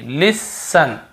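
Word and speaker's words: listen: लिखा हुआ है तो हम यहां पे टी को नहीं पढ़ देखिए लिसन लिसन लिसन यहां पर भी टी नहीं पढ़ रहे हैं ऑन ऑफ यहां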